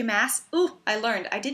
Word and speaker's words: Maas: Maas? Ooh, I learned. I did meet her. That is apparently how you pronounce her name.